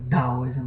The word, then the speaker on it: Taoism: So Tao Te Ching, what I've just read, is associated with Taoism, also some pronounces as Taoism, the Tao that has